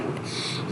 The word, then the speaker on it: rho: इसकी प्रोनाउंसिएशन क्या है? रो, RHO रो। और ये लिखते बिल्कुल ऐसी हैं जैसे आप P लिख रहे हो। ठीक है जी, और इसको प्रोनाउंस क्या करते हैं? रो।